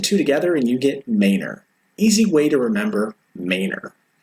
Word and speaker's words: Manor: city it leads into, Manor. Manor, while it looks like it might be pronounced like Bruce Wayne's Manor, we have our own way of saying it around here, so please learn the Austin way right now, or you'll